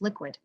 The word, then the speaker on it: LQwD: Today we are speaking with Shone Anstey, founder and CEO of LQwD, pronounced Liquid, the first publicly traded, purpose-built Bitcoin company that's focused on solutions that power the growth of the Bitcoin Lightning Network.